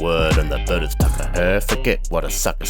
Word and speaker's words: takahē: Takaheat. Takaheat. Rainbow chicken. Juice extractor on legs. Pronounce it right. Hay is for horses. Takaheat is like eggs that they lay.